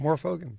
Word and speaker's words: Morfogen: is here with me and I've never pronounced your last name is that right yeah I'm more fogen okay more fogen more fogan is here